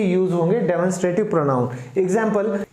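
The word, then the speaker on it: demonstrative: Next है डेमोन्स्ट्रेटिव, तो इसको डिमॉन्स्ट्रेटिव नहीं कहते, इसको हम प्रोनाउंस करेंगे डेमोन्स्ट्रेटिव।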